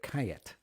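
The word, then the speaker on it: Callet: it it's ca double l et which we pronounce here kait so it's a blend of surah and kayat and kayet is a grape unique to the balearic islands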